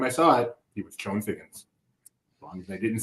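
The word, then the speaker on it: Chone Figgins: I know his name is Sean Figgins, but he spelled his name Chone for some reason. So every time I saw it, he was Sean Figgins.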